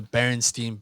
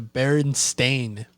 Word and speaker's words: Berenstain: A lot of people remember it being spelled and pronounced Berenstein, but it's actually Berenstain, which is.